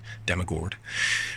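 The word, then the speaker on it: Dammegård: There is an accent above the A in his last name, so it's Dammegard.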